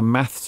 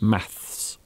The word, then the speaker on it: math: I dream about having a maths exam. I hate maths as well. So in British English, we normally say maths. Maths. In American English, they say math.